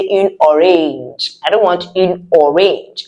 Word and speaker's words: orange: So as you can see, the spelling is just like the English one. The pronunciation is different. Une orange. Because the French sounds are different from the English sounds.